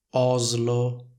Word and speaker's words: Oslo: Per esempio in italiano diciamo Slovacchia, Slovenia, Islanda, Oslo, lingue slave. Come vedete in tutte queste parole c'è la combinazione S più L che viene pronunciata con una S sonora simile a quella delle parole rosa e riso.